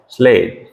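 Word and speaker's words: slate: तो इसकी प्रोनाउंसिएशन है स्लेट।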